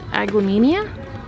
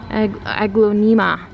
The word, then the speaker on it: Aglaonema: This aglaonemia? Aglaonema. Not Ia. I always say it wrong, I know.